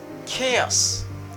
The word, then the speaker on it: chaos: I say chaos.